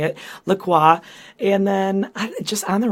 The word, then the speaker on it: LaCroix: by the way it's Lacroix I looked it up because it rhymes with enjoy that's on their website